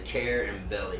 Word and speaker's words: Carubelli: carabell I always tell just say care and belly real quick care and